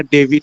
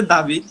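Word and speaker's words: David: দাভিড করব নাকি না ডেভিড করব? বেসিক্যালি ইংলিশে উচ্চারণ করতে গেলে দাবিদ, বাংলাতেও উচ্চারণ করলে ডেভিড। আর যখন আপনি আম, ইয়েতে উচ্চারণ করবেন, অ্যারাবিকের দিক থেকে উচ্চারণ করতে যাবেন, তখন হয়ে যাচ্ছে দাউদ।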